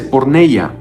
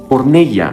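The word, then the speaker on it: πορνεία: Fornicación se dice porneya. Porneia, sí, de la palabra pornografía.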